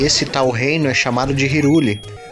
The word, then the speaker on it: Hyrule: tal Reiner chamado de hyrule com na forma mais correta de falar de pronúncia né seria Harley esse reino ele é